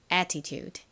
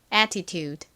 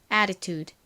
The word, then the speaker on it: attitude: 실제 발음은 우 소리에 가깝게 납니다.